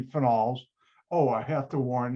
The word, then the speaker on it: phenols: phenols and files now some people pronounce this phenols no that's wrong it should be finals oh i have to